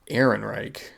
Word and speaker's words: Ehrenreich: Alden Ehrenreich.